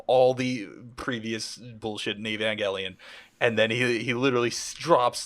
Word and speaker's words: Evangelion: How the fuck does Robin Williams not know how to pronounce Evangelion? They say Evangelion in the fucking show.